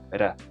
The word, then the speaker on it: to: Por cierto, la palabra to se está pronunciando como ra, ya que la T está en medio de dos vocales y esto hace que la T suene como una flap T.